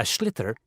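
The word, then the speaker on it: sliotar: this ball called a schlitter that's s-l-i-o-t-a-r so it's not spelt the way it's pronounced you hit it into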